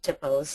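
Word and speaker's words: THPO: Tipo and Jim mentioned tipos uh you might think fpo but Tipo is the the correct way to pronounce This Acronym stands for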